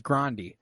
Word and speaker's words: Grande: not be that again like Ariana Grande is actually Ariana Grande what uh yeah like that's uh that's a real thing her name is Grande uh wow and uh